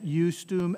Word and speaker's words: justum: So there's that J sound, the use, that I being used as an I, as a J sound, as a consonant, right?